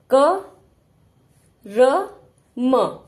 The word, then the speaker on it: कर्म: यह र है कर्म आधा र पूरा र नहीं बोलेंगे हम अगर पूरा र बोलेंगे तो क्या बन जाएगा क र म कर्म र नहीं बोलना है हमें इसको पूरा उच्चारण